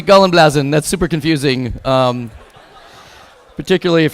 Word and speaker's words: Gallenblase: And she said, Gallenblase. And I said, oh, Gallenblasen? She goes, no, Gallenblase. And I said, Gallenblasen. She goes, not blasen, blaza.